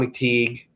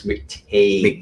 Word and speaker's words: McTeague: I'm not trying to be critical, but Dawn told me that the pronunciation of her last name is McTague.